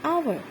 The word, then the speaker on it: hour: For example, an adult, an X-ray, an hour. An hour, here H is completely mute.